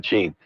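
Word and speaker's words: Shein: Sheen. Is that how you say it? Sheen, I think, yes. Not Shine, Sheen.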